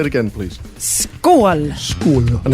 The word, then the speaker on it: Skål: Skål. Skål. And how do you spell that?